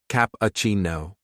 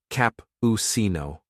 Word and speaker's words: cappuccino: saying Mai I to Cappuccino capucino o soft and smooth not capino mocha mohu say it